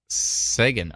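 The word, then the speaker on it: Seguin: two dollar Super Chat what Perry Sound is Sagan oh okay oh interesting did I pronounce it right second s-e-g-u-i-n interesting thank you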